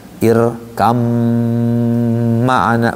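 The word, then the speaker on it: ارْكَب مَّعَنَا: Nah irkab makna itu dibacanya irkam maana banyak ngilang masuk ke mim.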